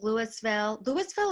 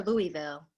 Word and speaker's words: Louisville: So 6, Louisville or Louisville? I think How do people you say pronounce it? both. People say both, but I always say Louisville.